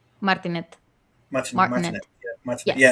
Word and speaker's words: Martinet: I can't pronounce the last name. Met the voice of Martinet, Mario. yes. How do you say? Martinet, Martinet.